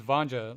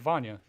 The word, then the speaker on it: Vanya: your name i thought it was vanja like uh like daniel said earlier but then when i started watching some of your stuff i was like oh it's vanya because i yeah your name